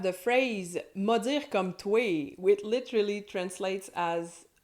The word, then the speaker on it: toé: And "toé" is just the informal pronunciation of "toi".